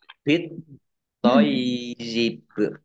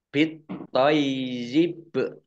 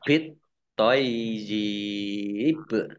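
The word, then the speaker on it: بِالطَّيِّبِ: Nah, ya sukun, yaknya dibaca double. Ya. Yang satu ya sukun. Toy, baru yi. Toyib. Nah, baknya dibaca sukun karena wakof. Dan kolkolah. bit toyib. Ini pendek, tidak ada tanda panjangnya ya.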